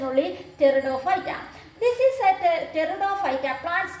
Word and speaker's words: Pteridophyta: This P is a silent only. Your pronunciation Pteridophyta. T is writing pronunciation only Pteridophyta.